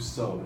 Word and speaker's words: sew: They are sewing, to sew. And yeah, I don't know if you know, but to sew is actually spelled S-E-W. Pronunciation-wise, doesn't make that sense.